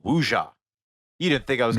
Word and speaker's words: wuxia: audiences its first big exposure to the historical epic genre the film belongs to, called wuxia. You didn't think I was going Nailed to it.